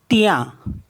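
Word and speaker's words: tien: मीस होता है well T आई ई एन तिया तिया मीस होता है योस एम आई ई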